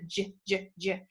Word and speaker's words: ginger: poem starts with a ginger it's a G but it sounds like it should be a J that means it's a soft G so the first poem